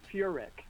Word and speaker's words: Furek: And you know, everybody sort of gets the pronunciation wrong, but it's Furick.